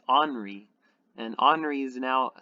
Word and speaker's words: Henri: now we have henry i've been pronouncing it henry but i found out that you pronounce it as anri and honoree is now